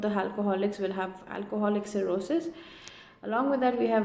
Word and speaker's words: cirrhosis: So the pronunciation is basically cirrhosis. We can also say cirrhosis.